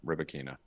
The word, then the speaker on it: Rybakina: Rybakina or Rybakina, as she wants us to pronounce her name, Rybakina.